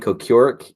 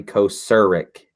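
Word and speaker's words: Kocurek: it um I had to look up the pronunciation cuz I was saying Co Kirk and it's actually Co szerik it's like a sir and Mike's blow me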